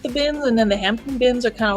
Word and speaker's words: Hampton: The Hampton one, my home bin, P is silent.